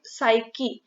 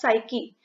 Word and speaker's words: psyche: Psyche. इस word में P हमारा silent है, so this is pronounced as psyche.